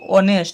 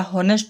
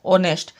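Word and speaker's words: honest: আমি দেখিবা letter কনসোনন্ট letter কিন্তু সাউন্ড কি অনেস্ট এটা হনেস্ট নয় অনেস্ট ঠিক আমরা ভাওয়েল সাউন্ড উচ্চারণ হ তো তে আন ইউজ হব ঠিক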